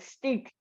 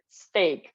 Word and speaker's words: steak: I also pronounce it like stick. I don't know. It sounded like that. Imagine I compare it to like meat and some other words that had like EA. I said it is pronounced E, right? But then I figured out that we don't. Okay. But now you remember when you want to eat something, steak, right?